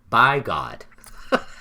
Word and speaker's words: Bigod: Yeah, and this guy's name was Francis Bigode. Bagod? Bigod. Bagot? Bigode. By God. Frankie B. It is spelled like by God.